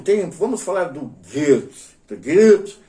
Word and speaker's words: Goethe: Goethe se pronuncia mais ou menos como uma múmia gemendo e cuspindo um chiclete. Goethe.